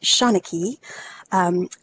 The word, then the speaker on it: Seanchai: provide a high quality immersive experience so the shona key library and that's how you pronounce that Shauna key created the Dickens project in Second Life in